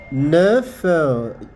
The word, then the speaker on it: neuf: This consonant here is pronounced. These are some of the rare cases we do have in French. We will not say ne, no, just say neuf. The F, you can see, is pronounced there.